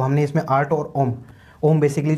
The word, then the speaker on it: ओम: हमने इसमें आर्ट और ओम ओम बेसिकली जो हमारा हिंदू धर्म में ओम है उसका मतलब जो प्रॉपर जो प्रोनाउंसिएशन है उसका है AUM, ओम।